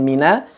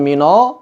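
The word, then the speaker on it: مِنَ: jadi setelah Billahi kemudian mina mina diucapkan tipis Bukan minol tapi Mina dan langsung bertemu dengan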